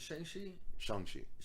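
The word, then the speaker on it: Shang-Chi: long time is it shengshi okay yeah well i always thought it was shang chi but in the movie they call him shangchi okay they're probably pronouncing that right yeah i would hope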